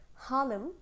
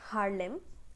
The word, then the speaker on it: Harlem: কবিতার যে টাইটেল সেটার নাম উচ্চারণ হচ্ছে হালেম নট হারলেম হালেম হচ্ছে নিউইয়র্ক সিটির